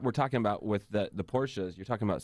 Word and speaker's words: Porsche: Oh, I thought you meant, how do you pronounce Porsche? It's Porsche. Porsche.